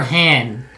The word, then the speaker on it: Han: Han kind of, or Han? It's Han Solo, not Han Solo. Come on. I use the world pronunciation of A. Ah. Han Solo.